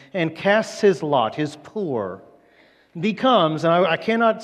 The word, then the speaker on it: pur: And that word is a pur, or a P-U-R, pure, or poor, however you want to pronounce it.